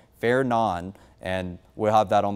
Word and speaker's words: Fernand: So, I know it says Fernand and that's how it looks like it's pronounced, but the official pronunciation is going to be Fair Nan.